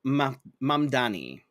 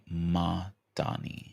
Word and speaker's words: Mamdani: Yes, Uh Zoran Mamdani. Madani. Mamdani.